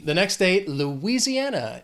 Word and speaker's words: Louisiana: The next state, Louisiana. It has 5 syllables. The stress is on that 4th syllable, that an, Louisiana.